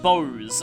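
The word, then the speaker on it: Bose: too by the way it is actually pronounced Bo's I've looked at the Japanese katakana it's actually not too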